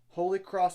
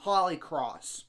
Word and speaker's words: Holy Cross: the winner of the Holy Cross in utar and not Holly cross which I know the